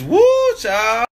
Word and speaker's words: whew chile: Like W-H-E-W Chile. Chile? It's woo child.